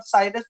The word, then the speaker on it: cirrus: मैं तो इसको ज्यादा cirrus पढ़ता हूँ, पर साइरस भी आप कह सकते हो उनको, ठीक है।